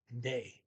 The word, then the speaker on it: de: The plural for den and day. D. But regardless of what it means in a particular sentence, it's always pronounced D. D-E-E, like D.